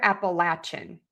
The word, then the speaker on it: Appalachia: And then let me do Appalachia as well. Yeah, same with that. So lay or latch.